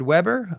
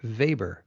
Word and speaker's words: Weber: and it's about 50/50 the Weber pronunciation is the Americanized style the Americanized version of his name and vber is the